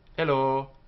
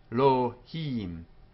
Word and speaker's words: Elohim: Read as two syllables, Elohim, and not as three syllables, Elohim.